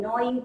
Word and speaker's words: gnawing: G is silent. Gnawing teeth.